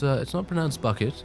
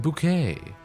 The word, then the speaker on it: Bucket: This whole trebuchet thing reminds me of, it's like saying, it's not pronounced bucket, it's pronounced bouquet.